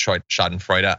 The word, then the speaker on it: Schadenfreude: By the way, people are correcting the pronunciation. Yeah, I am technically aware that it's Schadenfreude.